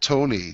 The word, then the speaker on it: Tony: And you can find me at HypedSound at Tony, because Tony, my regular name was taken.